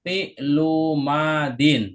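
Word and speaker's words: فعل ماض: Jadi cara bacanya rofa'a fi'lu madin. Nah, perhatikan di sini idofah fi'lu madin. Nah, karena idofahnya yang mudhaf ilaihnya enggak pakai alif lam madin maka pakai tanwin kasrh.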